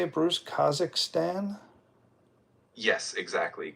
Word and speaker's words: Kazakhstan: Kazakhstan? Yes, exactly. Kazakhstan.